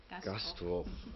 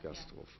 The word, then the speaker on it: Gastroph: nochmal für unsere Zuschauer, die vielleicht das nicht mitgehört haben, Labor für Entrepreneurship zu Gast, Lydia Gastroff, ja. Spricht man so aus, ja, Gastroff, ja.